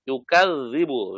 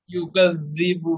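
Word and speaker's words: يُكَذِّبُ: এটাও নরম, ইউকাযযিবু, জালের উচ্চারণ ইউকাযযিবু বিদ্দীন। আপনারটা শক্ত হয়ে যাচ্ছে।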